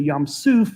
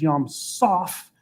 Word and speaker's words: Yam Soph: And one scholar argued that it's not actually Yam Suf, it's Yam Soph, which would translate to something roughly like the sea at the end of the world.